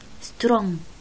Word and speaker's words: strong: strong مثلا strong، الإج ما بحكي strong ابدا، بحكي سترونج.